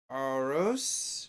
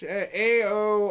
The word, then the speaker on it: Aorus: I was watching his review on like the Aorus, I believe is the way you pronounce it. It's AORUS, Aorus maybe.